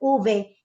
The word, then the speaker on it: uve: they normally use the word v uve they pronounce it uve kenneth guerra thank you for this lesson ma'am